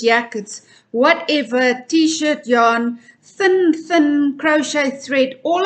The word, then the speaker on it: jaarn: the South African dictionary yarn sounds the same as English but it's spelled differently it's spelled in in Afrikaans way j-a-a-r-n yarn and they actually included